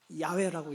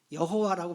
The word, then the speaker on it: 야훼: 그래서 야자가 이게 제가 히브리어로 이거를 야훼라고 읽어요. 야훼. 그래서 우리 한국 전통적인 이제 우리 교회와 우리 교우들은 여호와라고 보통 읽지만 신학자들은 이 히브리어 이를 야훼라고 읽는데 거의 다 야훼라고 읽습니다.